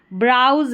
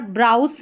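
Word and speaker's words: browse: स पढ़ते हैं, लेकिन यहाँ पर देखें ब्राउज है, यहाँ पर ब्राउज नहीं पढ़ रहे हैं, यहाँ पर एस का उच्चारण ज करके हो रहा है और लास्ट में जब भी ई रहता है वो तो साइलेंट ही रहता है।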